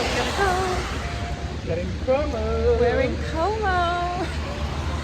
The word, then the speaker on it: Como: Lake coo coo com como como como do you know why because in Italian it's like Kom in English it's KO so I'm just merging the two and it's coming out